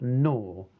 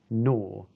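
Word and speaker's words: gnaw: something quickly and completely next we've got no with a silent G sound no this is to chew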